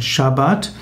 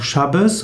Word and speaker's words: Schabbat: Sabbat Sabbat auch geschrieben Schabbat eigentlich ausgesprochen Schabbat oder auch Schabbes oder schabos heißt Ruhetag oder Ruhepause